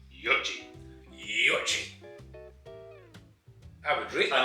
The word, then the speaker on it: Yoichi: You're not saying Yoichi, correct? It's actually Yoichi.